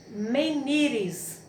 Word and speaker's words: menires: Terceiro exemplo, nós temos menires, menires. Então, a sílaba tônica, ni.